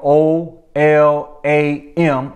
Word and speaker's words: Olam: But what we learned about that Hebrew word, which is spelled O-L-A-M, Olam, that word Olam can be translated to